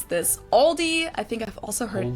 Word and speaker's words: Aldi: Add an S that isn't there in the end and say Aldis. In Germany, we just say Aldi.